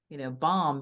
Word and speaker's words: bomb: Why is there a B at the end? And then you go and look and you're like, oh, it's from like bombus, which was Latin, and they just kind of dropped the end. So Hmm. it used to be pronounced and now it's not.